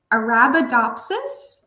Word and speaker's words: Arabidopsis: So, it's it's because people have trouble pronouncing it. Arabidopsis thalana.